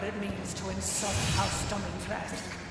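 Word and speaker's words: Dimitrescu: You will learn what it means to insult House Dominatresk. There, she said it. That's how you say it.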